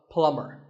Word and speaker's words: plumber: plumber not a plumber the B is silent so plumber in fact in many